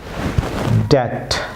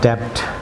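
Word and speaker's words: debt: যেসব ওয়ার্ড ইংরেজি ওয়ার্ডে এগুলি সাধারণত বি লেটারটি সাইলেন্ট থাকবে। ভিউয়ার্স যেমন ফলো করুন, ড্যাট, নট ড্যাপ্ট, ভিউয়ার্স বলুন ড্যাট।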